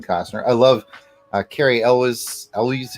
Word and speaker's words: Elwes: do enjoy Kevin Costner I love Cary Elwes Ellie's how he pronounces it Indyk and the comedic men and